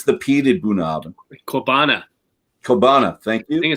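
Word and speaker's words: Ceòbanach: Kobana, thank I you. think it's Kobana, right, Nick? Is that right? Cabana.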